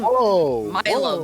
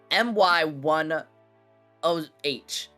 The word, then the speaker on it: MY10H: His name is spelled MY10H. I would not read that as Milo. I would read that as My10.